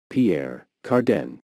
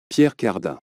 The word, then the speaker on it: Pierre Cardin: Age designs so how do you go about pronouncing it in English Pierre Carden Pierre Carden and in French Pierre carda Pierre carda we are looking at how to